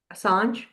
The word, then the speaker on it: Assange: Assange?